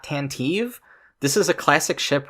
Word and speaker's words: Tantive: Also, as a nitpick, it's pronounced Tantive, not Tantive.